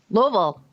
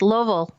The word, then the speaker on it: Louisville: Porsche dealership in Louisville Louisville no no don't don't do that to me mie please no it's Lille it's one syllable it's not it's Lille what who is the